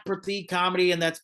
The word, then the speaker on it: Prateek: And also I pronounce it Pratik, but there's no like th makes a th sound. That's just how the language the culture that's just a language.